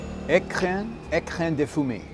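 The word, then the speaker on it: Écrin de Fumée: All right, it's pronounced Ecrin De Fumee.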